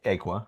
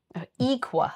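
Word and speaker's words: Aequa: And for weeks now, we've been trying to decide whether Amisa or Calidus would turn traitor, or Aqua, right? Equa. That's how the book pronounces it.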